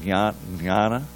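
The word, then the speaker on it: jñāna: For instead of for it's jnana, but there really is, it's supposed to be a little bit of an N sound, jnana, but that Y has to be in there.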